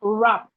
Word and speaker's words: wrap: We have wrap. Wrap. The W in wrap is silent.